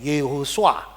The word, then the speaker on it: Yehosua: Ini ini vokalnya ho, ini o-nya swa. Nah ini Yehosua.